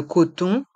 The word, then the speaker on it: coton: spray pr le coton dans le mot coton le O et le N font le son h cotons les cotons tiges